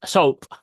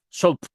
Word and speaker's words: SOAP: let's go ahead with this soap soap is soap soap soap is the correct pronunciation so which do nor appies are found